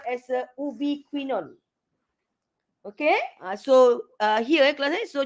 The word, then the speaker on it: ubiquinone: mobile electron carrier, what we call as a ubiquinone.